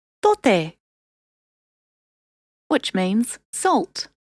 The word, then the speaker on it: tote: The T is a bit softer than in English. Try putting your tongue between your teeth when saying it. Tote, which means salt.